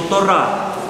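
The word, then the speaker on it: תורה: И еврейское слово Тора, если правильно произносить, то Тора.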